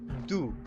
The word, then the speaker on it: du: two the word for two is do and that's pretty easy to remember because it sounds like two just do now if